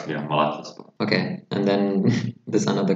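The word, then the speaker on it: Malatyaspor: Then we come to this club from Malatya, Yeni Malatya Spor. Nothing special about them also. Did I get the pronunciation right? Right, yeah, Malatya Spor.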